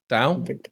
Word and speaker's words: Dao: And then perhaps the standout dueling weapon in the game is the White Tiger Dao? Am I pronouncing it? Dao.